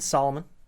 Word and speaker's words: Salamun: we got uh solomon today so i said it correct right that's right because it's spelled differently it's spelled differently uh s-a-l-a-m-u-n but it sounds like solomon so like king solomon but not quite as